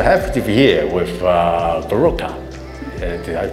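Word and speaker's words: Boróka: and thank you for having me and I'm baroka and I'm a Transylvanian artist um it's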